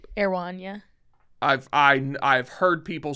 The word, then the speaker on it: Erewhon: Erewhon. Yes. Is that not? Erewhon, yeah. I've heard people say Erewhon. The people who like know this shit. Mm-hmm. It's Okay. 2 syllables.